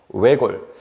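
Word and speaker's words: 외곬: 자, 이 외골의 발음을 보면은요. 지금 선생님이 발음을 두 개를 적어놨어요. 근데 읽어보면은 두 개가 똑같습니다. 외골, 외골. 그래서 이거는 구분하실 필요는 없고요. 그래서 여러분들은 이 뒤에 리을 시옷이 그냥 리을만 발음된다.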